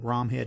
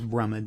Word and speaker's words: Bromhead: And I noticed in the history I said Bromhead. It is Brummid. That's how they traditionally would pronounce it.